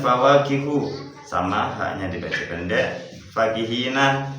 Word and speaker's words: فَكِهِينَ: Fakihina fa-nya dibaca pendek.